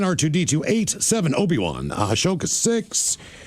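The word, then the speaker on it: Ahsoka: How the hell do you pronounce her name? Let me see the name here. Ashoka.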